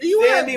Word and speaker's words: Sandy: Sandy rhymes with candy. So it is Sandy. Yeah. Is it Sandy?